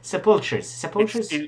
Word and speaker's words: sepulchre: How the fuck do you pronounce it? Sepulchres.